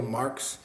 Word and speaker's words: Marques: Um it actually is pronounced Marx.